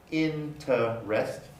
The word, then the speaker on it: interest: r becomes ret deliberate interest originally interest into rest three syllables into rest uh is now by many speakers interest in trust generous generous is now